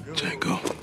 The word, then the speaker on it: Django: unchained what's your name django d j a n g o the d is silent and soon the hateful